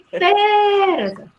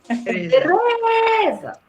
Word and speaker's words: Tereza: Eu não digo Tereza. E nem digo Tereza. Tereza.